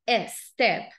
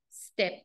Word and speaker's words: step: adoptivo vean esta pronunciación Inicia con s seguida de consonante nunca va a ser Ester no mother top song Step Dollar Step brother Step